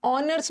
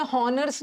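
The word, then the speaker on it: honours: ऑनर्स में हॉनर्स नहीं होता, ऑनर, तो सब में एन लगाना।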